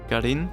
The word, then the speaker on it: Garin: Garin has an accent on the I, which is why in this case the second syllable is stressed.